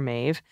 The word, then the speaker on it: Maeve: FYI, Maeve rhymes with Dave.